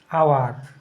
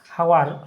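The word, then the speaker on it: hour: যেমন কি dash আওয়ার, হাওয়ার, হাওয়ার নয় কিন্তু, এইচের উচ্চারণটা খুব কম হবে।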